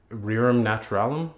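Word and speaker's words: rerum naturalium: Alex yeah okay um so you're a doctor rearam naturalum is that how you pronounce yeah exactly that's Latin yeah and I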